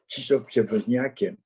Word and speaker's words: Krzysztof Przewozniak: J'essaye de le prononcer à la polonaise. Krzysztof Przewozniak, à qui j'ai dit que j'avais de la famille en Pologne, mais que je n'avais pas tellement connu.